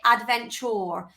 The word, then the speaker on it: adventure: Okay, so I say it as adventure, but it's actually, if you pronounce it, so the Queen's English, you'd say adventure. So it's got the your sound.